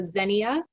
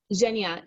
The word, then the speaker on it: Zhenya: So Xenia, I'm not pronouncing her name properly. Zhenya.